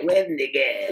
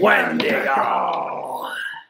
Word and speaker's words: Wendigo: I mean, Wendigo would fit in with there.